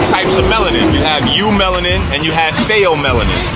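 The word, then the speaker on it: eumelanin: okay there's two types of melanin you have you melanin and you have phthalo melanin you melanin is spelled e-u-m-e-l-a-n fail melon in the spell p-h-a-e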